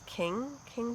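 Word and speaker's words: Qing: I don't know how you pronounce that. I think it's King Fiber, it's King, I think.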